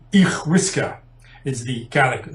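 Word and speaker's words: each-uisge: And apologies to any Scottish Gaelic speakers who are listening about my pronunciation, but I think it's pronounced something like Ichwiska is the Gaelic name and that translates as water horse.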